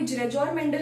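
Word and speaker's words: Gregor Mendel: जो है उन्हें हम ग्रेगोर मेंडल कहते हैं। उनका नाम जो है ग्रेगोर मेंडल है। कोई जेरेजोर मेंडल भी कहता है, कोई ग्रेगोर मेंडल भी कहता है। डजंट हैपन, प्रोनाउंसिएशन अपनी अपनी हो सकती है।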